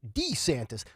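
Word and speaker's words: DeSantis: lately the santis wearing boots the way he pronounced his last name when he changed the way it's D santis like we were veryit picky about everything you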